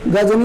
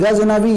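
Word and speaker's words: ग़ज़नवी: तो महमूद गजनी नहीं, गजनबी याद रखिएगा, स्पेलिंग गलत है।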